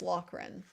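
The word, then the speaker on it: Loughran: Brian Lo lochran lochran I've been saying his name wrong it's not llin it's lochran so the plow driver himself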